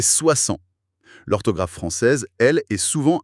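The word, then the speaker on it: soixante: Oui, le S de 30, le T de 40, le X de 60. Tous mués. Il faut vraiment faire confiance à son oreille plus qu'à ses yeux. En fait, c'est le piège redoutable pour les apprenants. On lit 60 avec ce X et notre cerveau a envie de le prononcer, de dire 60 mais non, c'est 60.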